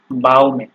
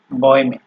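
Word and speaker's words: Bäume: ঠিক আছে, এটা যদি আপনার, আমি একটা জিনিস দেখাই দিই, এখানে যদি আপনার হচ্ছে এই umlaut না ব্যবহার হয়ে যদি আপনার হচ্ছে ওই umlaut ছাড়া এ যদি ইউজ হইতো, সেই ক্ষেত্রে সেটার উচ্চারণ হতে আপনার বাউমে। ঠিক আছে, মানে সরায় হইতো। তো এখানে যেহেতু umlaut হয়েছে, তো এটার উচ্চারণটা আপনার এ এর মতো হয়ে যাচ্ছে। ঠিক আছে, যেমন বয়মে। ঠিক আছে, তো বয়মে মানে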